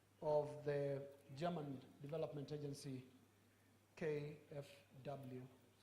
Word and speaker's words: KfW: the German Development Agency, KfW. I'm not sure that's how to pronounce it in German, is it? We got it right, thank you very much.